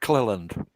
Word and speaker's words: Cleland: Pronounce his last name. I think it's Mike Cleland.